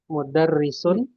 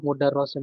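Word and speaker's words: مُدَرِّسٌ: Jadi mudarrisun ini kalau ada tasydid di bawahnya kasroh ini bacanya kasroh. Ya, mudarrisun. Mana Kalau Ustaz? di kalau fathah dia baru mudarrosun ini kasroh. Nah, kalau dibuat tasydid dia kasroh.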